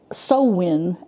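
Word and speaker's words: Samhain: don't understand how they how they uh get sowin out of s ha a i n but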